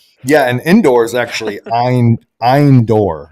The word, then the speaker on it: Endor: and indoors actually i'm eindor which is how it's pronounced in hebrew so there's again no